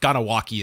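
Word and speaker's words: Kahnawake: And he would, and I hope I'm pronouncing it correctly, but Ganawaki is what I heard as the way you would pronounce it, that he wanted to always be identified from there.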